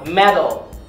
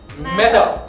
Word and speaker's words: Metal: ให้ เป็น T T T แตก ข้าง บน medal medal อ่า อัน นี้ คือ การ ออก เสียง ถูก